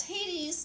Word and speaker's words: Hades: Basically, Hades is the ultimate ladies' man. Well, hey, Hades rhymes with ladies.